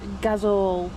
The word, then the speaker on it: gazole: So it's gazole, if that's how you say it. That's gazole.